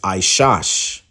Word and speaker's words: Esau: a goddamn lie because how you pronounce his name is aash okay AA aash right which means wasted okay